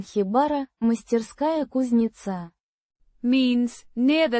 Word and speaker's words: Хибара: Pronounced Хибара. with the stress on the first syllable.